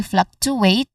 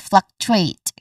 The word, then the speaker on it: fluctuate: We do not say fluctuate but fluctuate. Okay, fluctuate. Stress is on the first syllable.